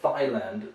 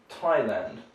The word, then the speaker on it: Thailand: is your thigh uh so thailand that sounds unusual because it's a place where people show their thighs a lot that's a strange mistake in english we say thai and the name of the people or the native language is thai so that's the easy one to remember so thai and where they come from they come from thailand and the final one